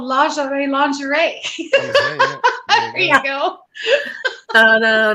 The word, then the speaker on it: lingerie: for about nine years so I will not pronounce it the way the Americans do it's the slaughter so it's lingerie and and it is I think a lingerie